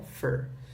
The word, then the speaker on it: for: Ok, esse for também ele é bem reduzido, tá? Ele não é um for tão forte assim, ele é um fur.